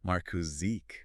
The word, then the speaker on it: Markus Sieg: And to honor the original German pronunciation of his name and his firm, we should actually pronounce that Markus Sieg. Markus Sieg.